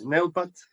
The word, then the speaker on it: Neupat: It's Neupat. The real name is Neupat because it's a mix of two words.